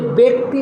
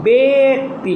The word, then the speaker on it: ব্যক্তি: আছে তারপরে রস্বীকার আছে এইজন্য ব্যক্তি হবে না হবে বেতি মানে একার হবে আবার